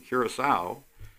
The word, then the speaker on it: Curaçao: And, you know, more and more people are actually pronouncing Curaçao correctly. You know, because a lot of people don't realize that the last C is soft and pronounced as an S.